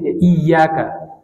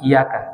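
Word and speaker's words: إياك: na'budu Wa iyaka nastain jadi J bacanya itu tasdid iyaka kadang-kadang kita dengar ada samar-samar iyaka iyaka tidak pakai tasydid tapi iyaka itu tasdid itu juga penegasan hanya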